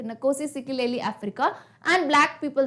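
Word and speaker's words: Nkosi Sikelel' iAfrika: एंड ये जो आपको नाम दिख रहा है ना, इसको कैसे प्रोनाउंस करोगे, नकोसी सिकलेली अफ्रीका.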